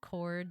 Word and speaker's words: chord: I thought about like silent letters, like chord, like the H isn't pronounced, but the same thing with rhythm, like chord.